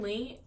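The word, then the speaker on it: Leigh: It is Lee, and Lee is spelled like L-E-I-G-H, and it'll be in the description box below.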